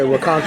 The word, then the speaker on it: Ronkonkoma: I ended up getting a flight in Ronkonkoma. Did I say that right? Yeah, Ronkonkoma. Yes. Yeah, you said it right.